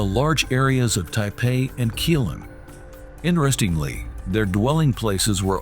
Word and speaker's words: Keelung: the gold-producing place called Keelung Jilong Mountain because keelung is the Minnan pronunciation of the Taiwanese indigenous Katagalan's "Galan" some say galan means federation